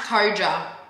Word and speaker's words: KOJA: Pronounced KOJA.